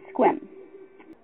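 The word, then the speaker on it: Sequim: place called squim and it's spelt the queen but it's squim lavender farm awesome beautiful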